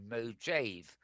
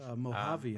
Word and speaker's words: Mojave: Apple have detailed the latest VR optimizations coming to Mac OS Mojave. Um, I think you pronounce it Mojave. Mojave, I think it's a Native American.